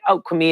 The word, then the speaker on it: Kwimi: Kwimi is saying, Kwimi is fine. Okay, so I did pronounce it correctly.